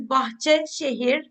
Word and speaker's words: Bahçeşehir: Um, our university's name is Bacher, but it's a little hard to pronounce for non-Turkish speakers.